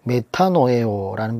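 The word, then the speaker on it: μετανοέω: 회개하다라는 말은 이 헬라어로는 메타노에오라는 발음을 쓰는데, 이 말은 마음과 생각과 감정과 의견을 바꾸는 것을 의미하고 있습니다.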